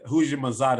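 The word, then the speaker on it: Houshmandzadeh: who's your mama man who's your masada that's how you say his name but he was one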